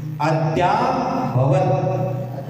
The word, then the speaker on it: अद्याभवत्: अद्याभवत्, देखो अद्याभवत्, द वाला दरवाजा का द बोलना, ध्यान नहीं बोलना, द बोलना, द विद्या, विद्यासागर नहीं होता है।